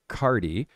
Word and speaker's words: Carty: and the transcript often times when people say cardi because it's pronounced c a r di but it's really